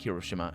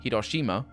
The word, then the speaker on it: Hiroshima: like hiroshima and uh i pronounced it in the english way which is sort of weird because i've i've always been pronouncing it at the portuguese way which is very close to the japanese way hiroshima and um it's not i'm pronouncing it the portuguese way it's not the correct one and auschwitz that's the